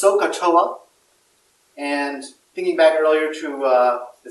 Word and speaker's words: SOHCAHTOA: in the next several days really now it's pronounced sohcahtoa and thinking back earlier to see the cost